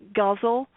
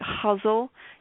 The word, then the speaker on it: ghazal: I pronounce it ghazal, and a lot of people pronounce it huzzle.